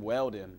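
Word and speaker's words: Wheldon: show off Indie Car Dan Welden I believe is how he pronounced his name died in a horrific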